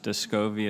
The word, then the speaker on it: Descovy: O'Day, this new drug that's going through the process, Descovy, is that how you say it?